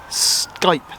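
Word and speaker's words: Skyppe: clothier families and one they're called skype that's belt nothing to do with the um app for getting in touch with other people it's spelled s-k-y-p-p-e the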